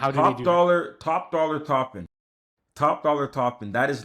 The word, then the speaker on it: Toppin: how do you top dollar top dollar topping top dollar topping that is literally top dollar topping. Topin is spelled um two P's T O P I N.